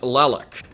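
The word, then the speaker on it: Tlaloc: It's pronounced Lalok, Plalocs, Lalok. It is a Mesoamerican deity recognized from the Aztecs back in, ancient Aztec history.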